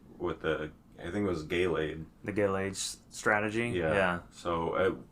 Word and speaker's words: Gallade: It's Gallade, yeah. Gallade. I mispronounce it.